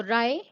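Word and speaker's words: wry: ले बड़ी जो लोस wi-fi डब्लू साइलेंट है तो राय राय का मीनिंग होता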